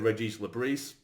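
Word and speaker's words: Régis Le Bris: But he did say also that I'm sure he said Regis Labrie, but he said that that's the sort of French pronunciation, so I'm sure we're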